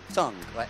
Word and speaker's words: tongue: Scritto tongue, but you don't pronounce, non si pronuncia U, E finale. Tongue, right?